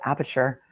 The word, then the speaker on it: Aperture: He works for a company called Aperture, which rhymes with departure, which probably will be Burgess's next career move with the company.